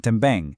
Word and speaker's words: também: Then também, again, totally nasal at the end.